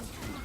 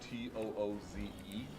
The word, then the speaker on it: Tooze: First, Adam Tooze.